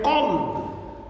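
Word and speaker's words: قلب: A pessoa está a ler o Corão, se não consegue diferenciar entre o Kaf e o Kof na pronúncia, Kaf, Kof, Kalb, Kolb. Então, em vez de dizer coração, está a dizer cão. E em vez de dizer cão, poderá estar a dizer coração.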